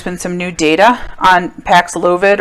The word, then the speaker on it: Paxlovid: some new data on pax lovid or pax lavid the way i like to pronounce it um this medication had